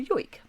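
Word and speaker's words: joik: There are traditional music performances and the traditional music of the si is called a yo and it's a very beautiful haunting way of singing.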